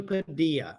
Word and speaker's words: Padilla: It's definitely Padilla. I don't know where you're getting these pronunciations. There's L's in there, dude. Yeah, it's Padilla.